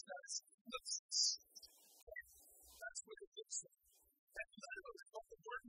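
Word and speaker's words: θλῖψις: You pronounce that as lipsis.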